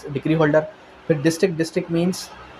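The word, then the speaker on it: mesne: उसके बाद मीन्स profit, इसको अक्सर लोग मेसनी प्रॉफिट पढ़ते हैं लेकिन इसका एक्चुअल प्रोनाउंसिएशन क्या है, मीन्स प्रॉफिट।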